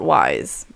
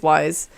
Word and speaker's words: Wise: you hadn't told me Robert Wise or Weiss I think it's wise has it spelled likewise w is e then I would say it's wise yeah 41 acting her